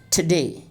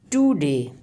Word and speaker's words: today: Now here there is no vowel sound between ta and da. So we will pronounce it like this, today. I am gonna tell you today. Usually our learners say today. Is, kind of long vowel sound, and it is not acceptable.